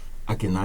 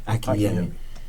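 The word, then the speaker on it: Akinyemi: Akinai? M-I. You pronounce it Akinai? A-K-I-N-Y-E-M-I. A-K-I-N-Y-E-M-I. M-I. Okay. And Akinami? Akiyemi. Akiyemi.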